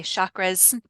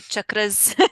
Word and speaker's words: chakras: You might hear people say chakras. We say chakras. It's Chakras. chakras. It's the Sanskrit pronunciation.